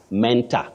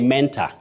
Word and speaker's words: mentor: word that word innocently many people say Mentor so and so is my mentor Mentor no not in standard English you say Mentor my mentor just like you say Corridor bet let me ask